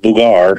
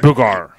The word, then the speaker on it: Booger: Yes, I actually pronounced it Boogar. Boogar. Kind of like, I guess, the French version, I guess you could say, or something like that.